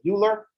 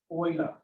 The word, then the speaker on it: Euler: Lots of times this comes up, people read this as Euler, which is good. That means you're reading. But not from German. Euler.